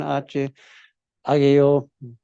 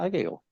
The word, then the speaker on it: Hageo: Después, Ageo o Hageo, depende de cómo quieres pronunciarlo, es lo mismo. Alguna Biblia lo tiene sin H, otros con H. Ageo, Hageo, no sé cómo quiere pronunciarlo. La mayoría tiene H, pero aún así se pronuncia Ageo.